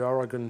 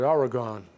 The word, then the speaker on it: Oregon: them and it told the story of the Oregon Trail there's another little quirk else New Englanders get chided for our English I've always called it Oregon but it's Oregon it's like it's GU and